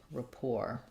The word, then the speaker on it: rapport: sounds like Gra poor rapport versus report um rapport so Rapport this letter a um is a is a schwa it's a clear on I mean unclear A reduced vowel in report you're going to see it in the dictionary with an if sound but it sounds very similar to Rapport because um we in